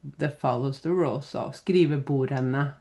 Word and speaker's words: skrivebordene: follows the rule so skrivebordene so just be careful so you don't pronounce the D there okay the desk.